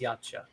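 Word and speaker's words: Yautja: By the way, that is how it's spelled, but it's still pronounced yacha.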